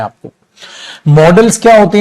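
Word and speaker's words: modals: मोडाल्स की बजाय बेटा इसको जो अगर आप प्रोनाउंस करेंगे तो आप इसको करेंगे मॉडल्स, मोडाल्स नहीं, ठीक है। पहले मोडाल्स बोल देते थे बट अब इग्नोर कीजिए, मॉडल्स आप बोलेंगे, ठीक है।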